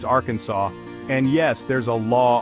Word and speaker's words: Arkansas: You see, in Arkansas, it's not our Kansas like you might think. It's Arkansas.